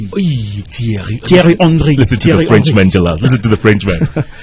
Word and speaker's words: Thierry Henry: The pronunciation is Thierry Henry. Thierry Henry.